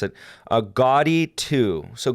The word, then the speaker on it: Gaudi: look up this name because i can never pronounce it a gaudi ii so gaudi ii it's spelled g-a-u-d-i and it actually had